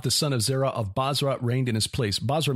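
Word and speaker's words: Bozrah: the son of zera of basra and again that's b-o-z-r-a-h not basra as in iraq uh yov the son of zera of basra reigned in his place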